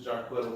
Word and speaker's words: Jarquetta: My name is so unique that Can you I'm spell your just name for our Jarquetta. viewers? It's phonetically sound.